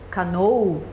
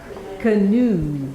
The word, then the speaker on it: canoe: If you know phonetic symbols, you know this is canoe. Ah, this thing here is what shows you that the next syllable is the strongest, right? They are so smart that they put the symbol before the strongest symbol.